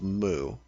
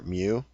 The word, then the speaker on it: Mu: of the kingdom of Mu, or Mu. It's spelled M-U. I've never pronounced it the way it's probably supposed to be, but I've always pronounced it Mu.